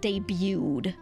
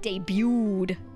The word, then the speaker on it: debut: learning moment it's pronounced debuted d y o o d all right debuted there is no T to pronounce because it's French it's French in origin so cute hug hug